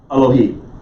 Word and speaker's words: Elohim: half of a circle elohim make sense you're going to cruise right past the syllable that has this in it you're going to say it quickly you're going to go right and if you say